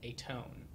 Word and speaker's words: Aton: One, the intention was for the character to be called Atone. Okay. It sounds similar to atone, which is why it would be pronounced that way. It's a intentional mispronunciation of my Hebrew name, which is Aton.